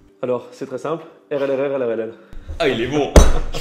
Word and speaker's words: Rlrrlrll: Comment elle se prononce? Alors, c'est très simple. RLRLRLL.